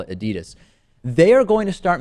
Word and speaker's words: Adidas: And now the world famous shoe and sports apparel manufacturer Adidas, which I'm actually told, Lewis is is properly pronounced Adidas.